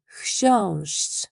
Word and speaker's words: chrząszcz: This looks scary, but it's pronounced like sh. Simply sh followed immediately by chi with no gap between them. An example would be the city of Szczecin, and our word in the beginning for beetle, chrząszcz.